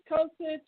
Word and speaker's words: Kosich: Kosich.